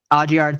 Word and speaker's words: Audiard: It's a French last name. I don't know how to say it. But Audiard.